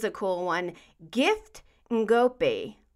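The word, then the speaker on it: Ngoepe: cool one gift and go P can go pay I think it's pronounced from the Toronto Blue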